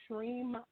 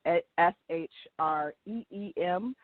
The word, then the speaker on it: Shreem: And I'm going to do the Shreem mantra. So it's spelled S-H-R-E-E-M, or sometimes it's with an I, just I-M.